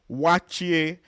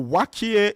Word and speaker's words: waakye: Yes, we're running down on the time, but after egusi soup, I wanted to mention waakye. So, waakye is spelled w a a k y e.